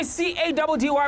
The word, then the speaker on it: CADDY: It's your boy C-A-D-D-Y, pronounced Caddy, yet again running the streets of Johannesburg.